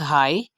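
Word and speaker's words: high: तो देखें, first example है हमारे पास हाई।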